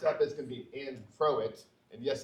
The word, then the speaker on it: Croat: So next up is going to be Croat. And yes, it rhymes with poet, and I didn't even know it.